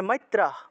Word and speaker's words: মৈত্রঃ: মৈত্রঃ বিসর্গ থাকলে হ, তাহলে মৈত্রঃ।